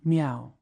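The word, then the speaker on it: 缪: postumus title was meow the same as mother pronounced as meow family celebrity Meo Yu a native of jangi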